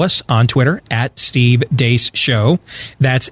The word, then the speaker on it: Deace: Beck program, we're the crew from the Steve Deace Show, noon to 2 Eastern, right after Glenn Beck on Blaze TV, radio, and podcast. You can follow us on Twitter at Steve Deace Show. That's DEACE for those of you listening around the country